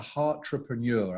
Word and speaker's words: Heartrepreneur: And so you are recognized as the Heartrepreneur. I hope I pronounced that correctly.